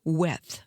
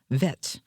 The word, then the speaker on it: Weth: Our next person is Peter Weth. That's W-E-T-H. Might have been pronounced Vet.